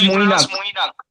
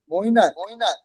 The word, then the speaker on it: Mainak: Is it Manik or Mainak? Sir, it is actually pronounced Moinak. Moinak. Yes, sir. In Bengali language, sir.